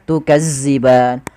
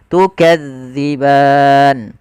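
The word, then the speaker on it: تُكَذِّبَانِ: gigi Sari atas d Jangan dibaca dengan zza Maka jangan baca tukaziban tapi kita bacanya tukadziban kemudianfal ban kembali lagi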